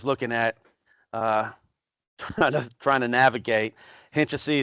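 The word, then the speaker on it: Hynčice: Hinčesy is that's how you pronounce this. And that's not. There's some sort of symbol that goes over this C that I wasn't able to get.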